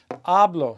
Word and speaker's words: hablo: So if you look at this, we say yamo. We're stressing the A. Ablo stressing the A.